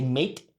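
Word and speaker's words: Meath: When we say me, when you're from me, you don't pronounce the H. So they say meat, right?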